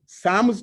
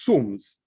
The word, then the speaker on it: SAMS: So I chose to bring a brand name which is close in terms of pronunciation, much as some of our customers pronounce it as Sams, but it is Sums.